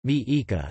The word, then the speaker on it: Mexica: referred to themselves as Mexica, Nahuatl pronunciation, Mi-Ica, a tribal designation that